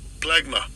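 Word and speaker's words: πλέγμα: And I'll give you a pronunciation of it. Strong's G4117, plegma.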